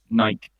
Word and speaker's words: Nike: I think Nike is like the way they say it, isn't it? Like that's how you would pronounce it. Nike is there's no. It would be Y or like IE if it was Nike. Or like an accent on the E.